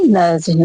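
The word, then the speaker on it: nudge: Next है नज्ड। नज्ड मतलब कोहनी मारना। ओके। तो इसमें भी क्या है? डी साइलेंट हो गया है।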